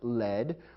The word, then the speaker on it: lead: However, there's another word pronounced led, which is spelled the same as lead, L-E-A-D. This lead is a noun describing a kind of metal.